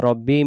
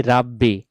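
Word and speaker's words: رَبِّي: আস্তাগফিরুল্লাহা রব্বি মিন কুল্লি জামবিউ। এই দোয়াটি যে আমরা পড়ি অনেক জায়গায় উচ্চারণটা ভুল হয়।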